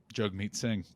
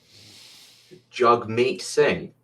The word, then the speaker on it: Jagmeet Singh: Jagmeet Singh, Canadian, threw his curveball. Jagmeet Singh. Yeah. Jagmeet. Shit. I always mispronounce his name.